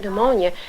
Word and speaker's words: pneumonia: child going to find the word pneumonia unless some teacher is told them that the PE is silent and you take those